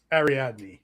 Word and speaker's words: Ariadne: How you say it? Ariadne.